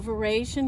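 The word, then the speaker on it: véraison: beginning to change color that's what we call version here in texas i think they pronounce it very soon in french but we're in texas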